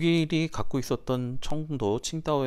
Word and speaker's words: 칭다오: 우리 조선을 바꿀 게 있거든요 그게 바로 뭐냐면 칭다오 맥주 로 유명한 칭다오 다른 말로 우리는 고우리 발음으로는 정도라고 하죠 중국의 청부가 당시 독일의 식민지